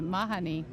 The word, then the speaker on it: Mahoney: Well, it's pronounced Mahoney here, but in Ireland they pronounce it Mahoney.